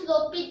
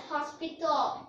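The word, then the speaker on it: L'Hôpital: But don't pronounce L'Hopital as hospital or hospital.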